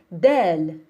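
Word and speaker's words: دال: dot on top so this is del del the sound is the just like the letter d da da i'm gonna give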